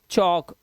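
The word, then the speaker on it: chalk: ये टॉक, वॉक, एल पहले है के से, चौक। इसी तरह से एम से पहले आएगा तो भी साइलेंट है, जैसे काम, एम से पहले आया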